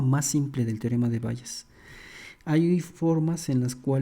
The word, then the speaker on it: Bayes: Me parece que la pronunciación correcta es Bayes, pero pues vamos a decirle Bayes aquí entre los cuates.